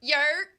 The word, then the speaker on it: New York: Oh, I'm sorry. Yerk. There you go. Meredith is on deck now. Anytime we mention New York, she is ready. Yerk. Yerk. You gotta say it right. I am saying it No, right. you're not. You gotta say it with your chest.